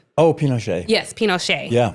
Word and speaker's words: Pinochet: myself because Andrew you'll tell me how to pronounce his name. Pinochet? Oh, Pinochet.